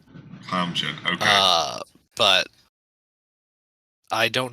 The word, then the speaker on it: Kamjin: Quasman or whatever the hell his name is. It's pronounced Kamjin. Kamjin.